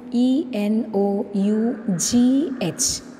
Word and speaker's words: enough: you are writing enough e n o u g h g h e n o u g h enough that GH is pronounced as F sound f that is one